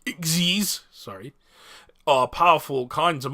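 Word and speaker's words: Xyz: __ ] XD monsters XE monsters pronounced eggsy's sorry are powerful kinds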